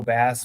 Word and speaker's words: Bass: As as we I know we've got Bass, base. That's bass. I know it's bass, but like, you know, when